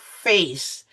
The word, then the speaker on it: face: Like in the word before this, now you have face because C is followed by an E.